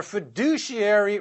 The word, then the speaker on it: fiduciary: or their fiduciary responsibilities with the emphasis on the second syllable of that word their fiduciary responsibility is shirked which